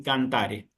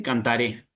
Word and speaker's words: cantare: cuando aparezcan estas palabras yo voy a decir amare y cantare. ¿Me explico? No voy a decir cantaré ni amaré.